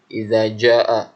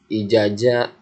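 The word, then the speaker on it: إذا جاء: Ada yang baca ijaja, ada yang baca izaza. Kalian harus bedakan mana za, mana ja, mana za. Nah, kalian seperti huruf dal ini cara pengucapannya lidahnya di ujung gigi. Za, za, iza. Nah, kalau ini pakai ja, biasa pakai huruf j, ja, jajan, bajai gitu, ja. Iza ja.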